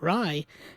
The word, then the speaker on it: Ray: And I'm like, okay, if that's the way it's pronounced, that's the way I'll pronounce it. And so I'll start saying Ry from now on, but what I'm getting at is that his cinema isn't Bollywood cinema.